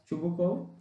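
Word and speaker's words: Chubukov: हाँ, तो इसके जो कैरेक्टर्स हैं वो हैं स्टेपन स्टेपानोविच चुबुकोव, जिसका सही स्पेलिंग ये होता है बट we pronounce it एज चुबुकोव.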